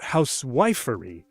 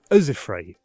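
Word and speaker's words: housewifery: demands three enclose it meter can also reveal stress not house wifery but azefrai okay you're learned now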